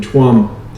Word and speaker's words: Tuam: and babies in in tuam it's pronounced charm actually in irish gods god's orphanage now